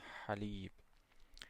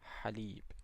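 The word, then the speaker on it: حليب: So, to pronounce this one is as if you are saying ah but you just give it the vibration in the back of the throat. So, you say ha ha haleeb, milk.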